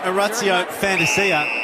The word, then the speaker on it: Orazio Fantasia: Well, big free kick there by Orazio Fantasia, as his name is correctly pronounced, as we discovered during the week.